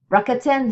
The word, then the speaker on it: Rakuten: Rakuten, this is how you pronounce it right here.